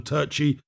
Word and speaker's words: Turchi: maybe it's accurate but i prefer to call him turchi pronounce his name frenetically so yeah richard react